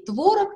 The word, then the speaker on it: творог: правильной носорог ел и творог и творог пожалуйста вариант ударение перечень слов с вариантом ударение в русском языке он на самом деле не били он невелик что правильно грамотно .